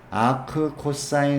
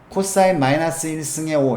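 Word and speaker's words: 아크코사인: 그 다음에 읽기로는 코사인 마이너스 1승의 5 이렇게 읽지 않습니다. 이거를 뭐라고 읽는다고요? 아크 ARC죠? 아크 코사인이라고 얘기합니다. 읽기는.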